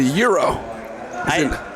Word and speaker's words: gyro: It's a euro. Is it not? It's a euro. If you're from America, it's pronounced gyro.